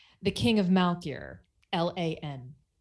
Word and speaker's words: Lan: Apparently there's some conflict over how to pronounce which character? Name. The King of Malkir, Lan. Lan.